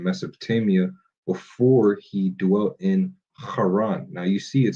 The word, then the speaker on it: Haran: It's supposed to be Haran, not Karan.